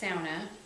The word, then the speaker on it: sauna: Just so you know, it's pronounced sauna, because that's the Finnish way to pronounce it.